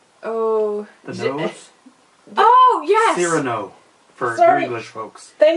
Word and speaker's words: Cyrano: Cyrano, for Sorry. you English folks. Thank you. Oh, sorry. You pronounced it in French.